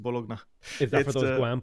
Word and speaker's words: Bologna: bologa bologna or bologa I like to say bologa but I don't know some people pronounce it bologna is that for those